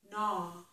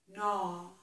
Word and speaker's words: gnaw: This is bowl, bowl, ball, ball, no, gnaw, no, gnaw. We don't pronounce the G in this word.